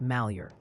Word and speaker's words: Malheur: Also, the good people of Oregon would like you to know that Malheur is pronounced Malheur.